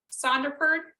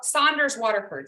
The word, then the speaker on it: Saunders Waterford: Yes, today I'm using the Sonderford. How do you say it? Sonderford cold press high white. I also like Arches, but lately I've been using the Saunders Waterford.